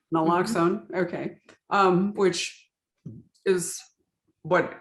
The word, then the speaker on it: naloxone: even know you you it's pronounced like you said it naloxone okay um which is